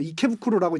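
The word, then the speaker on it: 池袋: 포대할 때 대자를 후쿠로라고 읽고 이제 우리가 지명 중에 이케부쿠로라고 이제 지대라고 쓰는데 그게 이제 그 뒤에 붙으면 후쿠로가 이제 음이 바뀌어서 부끄로로 바뀌거든요.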